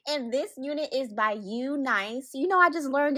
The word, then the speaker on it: UNice: And this unit is by U nice. You know I just learned it's pronounced U nice and not Eunice.